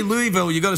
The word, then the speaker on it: Louisville: You can't say Louisville.